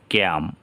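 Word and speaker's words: calm: এখানে আছে এল এর পরে এম, বাওয়াল নেই, তাহলে উচ্চারণ এল হবে না, ক্যাম, অসুস্থতা বোধ।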